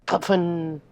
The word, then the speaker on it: pfn: Here you can hear a pronunciation, which I absolutely need to hear. What is it? Puffin.